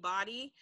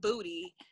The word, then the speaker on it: Bodhi: I get called Bodhi or Booty. Like, I was talking to this London dude, he was like, hey, Booty.